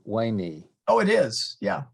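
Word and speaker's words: veni: yeah I thought that if you were speaking classical Latin today v-e-n-i would be wayni oh it is yeah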